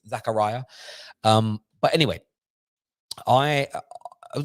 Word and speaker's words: Zakaria: from my friend today i said it's pronounced zakaria so i'm going to go with zakaria until somebody else will text me later and say it's zechariah um but anyway i